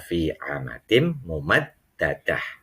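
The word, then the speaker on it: في عمد ممددة: Nah, transliterasinya fi amadim mumaddadatin. Nah, kalau bacanya fi amadim mumaddadah.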